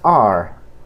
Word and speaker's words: our: Our, la palabra our que vemos aquí, se pronuncia our. Pero cuando está conjugada ya en una oración, su pronunciación es are. Suena como el verbo to be.